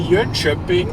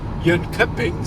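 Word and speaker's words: Jönköping: At least according to my German Google Maps voice, it's supposed to be Yuneping and not Yuning.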